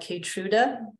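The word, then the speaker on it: Keytruda: we have a question about a drug called catruda I'm going to spell it because I'm not sure I'm pronouncing it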